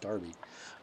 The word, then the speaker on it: Derby: Derby was doing here although maybe it's pronounced Darby um what he was